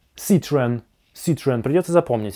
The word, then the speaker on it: Citroën: Но следующий автомобиль, Citroën, — французский, и его название произносится как Citroën. Ситроен. Вам придётся это запомнить. Это не "Citro-en", это не " Citro-on", ничего подобного.